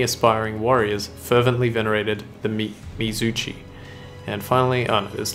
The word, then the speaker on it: Mizuchi: pronounced Mizuchi. Mizuchi.